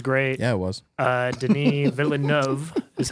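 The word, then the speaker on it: Villeneuve: the cinematography was great yeah it was uh Den vov is how you pronounce his name adopted a novel that's got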